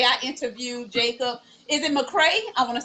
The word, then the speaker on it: McCrea: Is it McCrea? I want to say that right. You said it right. Jacob McCrea.